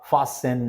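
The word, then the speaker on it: fasten: बाद से जो है हमारा टी जहां साइलेंट रहेगा जार फसन लिसन मैच वच यहां पर टी देख रहे हैं आप साइलेंट है ठीक है तो ये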